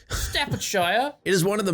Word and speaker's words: Staffordshire: I I think I think the only way to pronounce it was to actually bring out the British accent. Staffordshire Staffordshire.